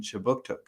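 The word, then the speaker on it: Kjipuktuk: But before we begin, I would like to acknowledge that Right Start Newcomer Services conducts business in Chibuktuk, which is how you say Halifax in the Mi'kmaq language.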